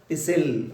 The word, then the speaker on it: pistil: T silent letter, pistil also we can call.